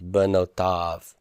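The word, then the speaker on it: בְּנוֹתָיו: Remember that yod is silent. I don't know if that was mentioned earlier, but that yod in the 3ms pronoun, that yod is silent. So it's benotav, benotav.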